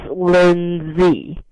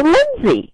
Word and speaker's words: Lindsay: name is pronounced so it's pronounce Lind Z okay with a z like the letter Z Lindy I love this